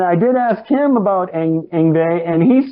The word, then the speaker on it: Yngwie: I mean, so far anyway, I haven't done Yngwie. You can pronounce his name.